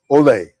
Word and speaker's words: OLE: Is that how I pronounce exactly? That's it. Olay. Olay.